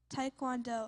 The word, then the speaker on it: taekwondo: Taekwondo. Am I pronouncing it correctly?